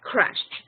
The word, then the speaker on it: crashed: sorry only a pronunciation the pronunciation of crush it's a regular verb so it ends in d but you don't pronounce the Ed you said they must have crashed period good the next